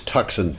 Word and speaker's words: Tucson: Toyota Mirai Mirai okay the one on the left is a Hyundai Tucson okay or is it tuxen it's tuxen don't don't get don't get